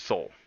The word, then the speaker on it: Sol: You can't pronounce L's? It's Soul.